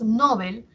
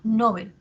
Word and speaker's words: Nobel: la tónica menor intensidad si nosotros por ejemplo pronunciamos Nobel estamos haciendo que la sílaba tónica sea en esté en no cierto y mientras que Bel hacemos que sea la atona Nobel el premio Nobel decimos